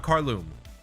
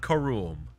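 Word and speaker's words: Karuulm: going to mount Carlo Mount carloom or carlum I I always forget how it's pronounced car room so I was wrong on both attempts Mount Korum dude I have no idea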